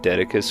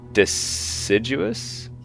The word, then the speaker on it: deciduous: I always call them Dedicus forests. It's clearly not Dedicus. It's like deciduous? Is that it? Deciduous? Deciduous forests?